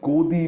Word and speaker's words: godi: come to be coined it's called godi media rhyming with Modi godi means on the